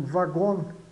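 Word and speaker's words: wagon: Então já verificamos o W tem pode ter o som de v ou de U pode ter o v só como V de voz em vagon vagon vagon e u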